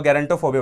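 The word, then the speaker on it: gerontophobia: ठीक है ना, जिरेंटो बोल लो, गैरेंटोफोबिया बोल लो, ठीक है।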